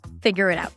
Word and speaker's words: figure it out: And when you say it, make sure that you pronounce it just like the way we learned today. All right? Figure it out as if it's one word.